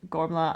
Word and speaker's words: Gormflaith: And please do, when I'm saying these names, please do remember that it's actually pronounced Gormla and Fola.